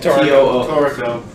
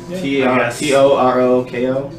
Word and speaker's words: Toroko: Or spell it? Toroko. T-O-R-O-K-O?